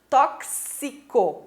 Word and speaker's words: tóxico: Então, eu tenho 6 letras, mas eu tenho 7 fonemas. Por quê? Porque eu não pronunciei tóxico, né? Eu não falo tóxico, e sim tóxico.